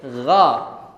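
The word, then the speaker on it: غ: Begitu juga gho. Bukan gho tapi gha.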